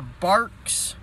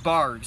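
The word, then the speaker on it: Barq's: up with got the Bark's or is it bars I think it's pronounced barks barks root beer I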